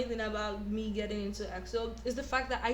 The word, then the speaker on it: EXO: So, EXO, pronounced EXO, is a South Korean Chinese boy band based in Soul, performed in as entertainment.